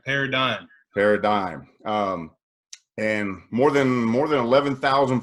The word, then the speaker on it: Paradym: finally said it right because so many people say parody or parody, You don't want it to be a parody, right? right, Paradym.